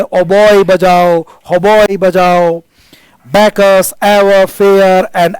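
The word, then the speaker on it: hautboy: now give the होबॉय इसमें T silent है होबॉय यह आजकल तो इसको होबोई को ऐसे बोलते हैं होबॉय पहले इसको होबोई कहते थे है ना होबोई ब्रेथ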